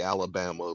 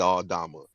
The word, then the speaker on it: Aldama: A lot of people call him Santi Alabama because they don't know how to say his name, but Santi Aldama.